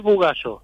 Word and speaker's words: Bugallo: buenas tardes muy bien pronuncié bien tu apellido lo primero que te pregunto en real es bugallo buo perfecto así lo de dos